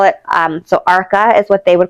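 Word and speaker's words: Arka: They're saying it's spelled A R K A and I'm saying ARCA.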